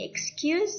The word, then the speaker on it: excuse: Jadi ini yang sering salah paham di sini adalah bahwa bacanya ini tuh murid-muridnya Miss Fitri sering bacanya dengan kayak pakai huruf K. Padahal di sini tuh hurufnya X. Jadi dia ada semacam S-nya tuh loh Mbak Mas. X gitu. Kamu coba ya latihan. X bukan X tapi X.